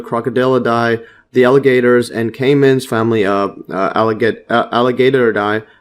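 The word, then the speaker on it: caiman: kimman see this one and there it is Cayman and Cayman yes the crocodiles and cayman's family alligator die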